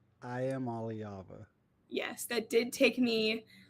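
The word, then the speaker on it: Iamaleava: It is I am Aliava. I am Aliava.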